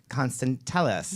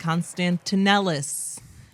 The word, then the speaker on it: Constantellis: I usually get like constantellis but it's like why are you adding syllables to things that don't that are already yeah people just Constantinople